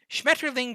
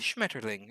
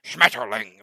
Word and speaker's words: Schmetterling: that's very straightforward um also german only sounds fresh people say it harsh like it's a shmeterling it's kind of soft and sweet and they're like schmetterling like yeah of course